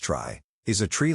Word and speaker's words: trie: the dictionary of prefixes a try pronounced try is a tree like